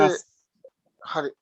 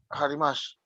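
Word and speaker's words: あります: No se dice Arimasu. Harimash. No, no es SH al final, una S. Arimasu.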